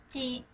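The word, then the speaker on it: つ: ยาก ซึ่ง คำ นี้ จะ เอา ลิ้น ไป แตะ บน แพดาน นิด นึง คะ แล้ว ก็ ออก เสียง จึ จึ ก็ ขอ ให้ ออก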